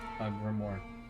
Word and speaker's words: grimoire: Grimoire. Grimoire?